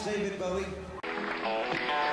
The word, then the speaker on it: Bowie: My name's David Bowie.